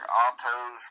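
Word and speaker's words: αὐτός: Now, these muddy balls of water and 846, that's that, the word looks like autos, but it's A-U-T-O-S and altos. I'll have it pronounce it.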